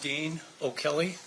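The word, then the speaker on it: Dean O'Kelly: If you please state your full name and then spell it for the record. It's Dean O' Kelly and it's D E A N O aposte k l e y.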